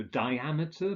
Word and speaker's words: diameter: With words ending in meter, the stress is on the second syllable. So diameter, barometer, chronometer.